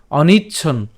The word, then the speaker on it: অনিচ্ছন্: এরপর অনিচ্ছন, এখানে খেয়াল করি চয় ছয়ের সাথে এখানে যে একটা দুইটা দন্তান্ন আছে, একটা দন্তান্ন আমরা উচ্চারণ করব, তাহলে উচ্চারণ যদি করি অনিচ্ছন, অনিচ্ছন।